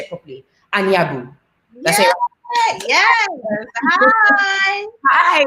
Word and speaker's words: Anyabu: Yes, we have the gorgeous and the fabulous Priscilla, and let me say it properly, Anyabu.